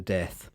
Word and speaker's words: Death: Death. Oh God. But it was Death was how she insisted on pronouncing it.